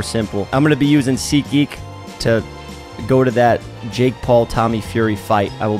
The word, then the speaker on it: SeatGeek: episode is sponsored by sea geek last time i said see geek i said it's so quick that i was saying sikhi it sounded like i said seek but i'm going to pronounce